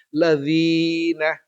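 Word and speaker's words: الَّذِينَ: bukan lazina tapi lazina Dal ini ketemu dalal berbaris bawah dibaca dzi lalu dia ketemu dengan ya sukun maka dia dipanjangkan dua ketukan ladzina bukan ladzina ya ladzina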